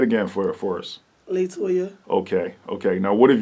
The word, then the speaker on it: La Toya: don't forget toyah so what is the correct pronunciation of your name latoya latoya little okay how how do you spell it